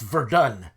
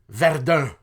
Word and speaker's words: Verdun: region of the So Verdun is actually not pronounced Verdun. It's Ver.